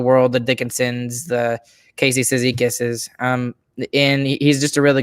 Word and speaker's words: Cizikas: The Foxes of the world, the Dickinsons, the Casey Cizikases, and he's just a really good pickup. It's Cizikai. Cizikai, is that how you're gonna say it? No, that is how you say it.